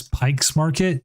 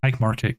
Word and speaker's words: Pike Market: facts about Seattle um everyone mispronounces Pike Market as Pike's Market no there is no s in it it is just Pike Market get it right you